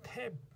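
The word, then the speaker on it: tap: 그래서 비슷한 단어인데 두 개의 완전히 다른 발음이 될수 있는 게 탭. 얘는 뒤에 이가 없죠. 그러면 얘는 발음이 트에프 탭이에요. 하지만 뒤에 이가 붙으면 얘는 소리가 안 나서 트에이프 테이프가 돼요.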